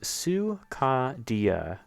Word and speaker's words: Sukadia: but like in a readable sense, it's Su, emphasis on Ka, and then D, and then Sukadia.